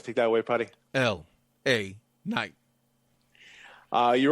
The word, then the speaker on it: LA Knight: LA Knight.